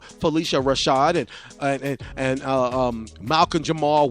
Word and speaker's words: Phylicia Rashad: Bill Cosby Show like phylicia rashad I know I said her name wrong in the past but Felicia Rashad and and and um